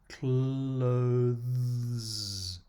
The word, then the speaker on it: clothes: is a complex sound clothes especially if you do have difficulty with the th sound or the but the last two letters here are not another syllable clothes is a one syllable word the analyze word family